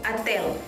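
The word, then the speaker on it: отель: Jadi dalam bahasa Rusia hotel itu Atel. Atel. Atel. Atel. Jadi penulisannya itu sebenarnya dia pakai O gitu, tapi bacanya Atel. Bacanya itu A.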